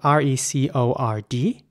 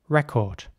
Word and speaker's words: record: next word is spelled r-e-c-o-r-d and in British English it would be pronounced record uh the C in the middle of the word is pronounced like a k record crowtherose military record in